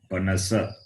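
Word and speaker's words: पनस: Panasa. Again. Panasa. Panasa. It is na. I'm not hearing the na properly. Panasa. Na. Panasa. Na is dental.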